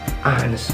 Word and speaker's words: honest: Karena kata honest itu nggak dibaca H-nya. Nah, begini cara bacanya. Oke, honest man.